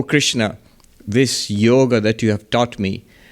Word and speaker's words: yoga: But the correct pronunciation would be yoga, not a. Yoga. In Hindi you would say yog, in Bengali yog, but never yoga.